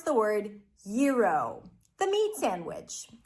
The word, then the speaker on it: gyro: How to pronounce the word yuro, the meat sandwich. This word is borrowed from Greek, but we are changing the sounds to American sounds because now it's a word in English because people eat all the time.